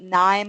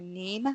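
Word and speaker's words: KNIME: I've used both um I'm probably going to mess up the pronunciation of this but Nim or NE which is k n i m and then also rapid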